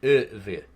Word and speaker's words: Ivri: And 5 question marks, Ivri, pronounced Ever.